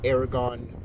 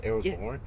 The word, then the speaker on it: Aragorn: Uh, I'm much more of a Aragon guy than I am a Gandalf guy. Okay. Aragorn. Aragon. Aragon is Or is Aragon the one with the dragon? Yeah. Aragorn. Aragorn is always pronounced Aragorn.